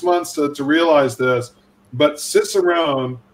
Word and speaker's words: cicerone: to realize this but cicerone and sommelier both start with the same they both have the same rhythm same number of syllables they both start with that sibilant s sound so there's a great